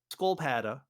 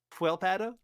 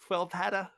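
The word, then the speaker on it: sköldpadda: That is turtle in Swedish, and it's not pronounced skolpada or anything like that. It's fuelpada. Squilpada? Fuel. Squel? It's like an F sound, like skull is like fuel, fuelpada.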